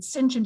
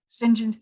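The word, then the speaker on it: St John: is singent stratford and sinchen is spelled like saint john syngent stratford he himself is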